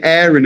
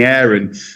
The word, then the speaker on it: Aaron: And once they say Aaron a few times, they tend to call me Aaron. But as soon as I say they say, "What's your name?" And I say, "Aaron." And they say, "Oh, how do you spell that?" And I say, "A double A R O N." They go, "Oh, you mean Aaron?" Or we say Aaron.